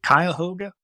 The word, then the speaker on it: Cuyahoga: And the closest we're going to be is it Cuyahoga? Is that how you pronounce it? Cuyahoga Falls up near Now Cleveland?